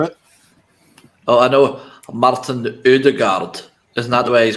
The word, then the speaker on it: Ødegaard: Oh, yeah, because I thought I pronounced it like the correct way. Odegaard. That's how you say it. No, it's Odegaard.